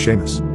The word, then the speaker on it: Seamus: He said his name was Seamus. I pronounced it C-Moose for the longest time until he corrected me.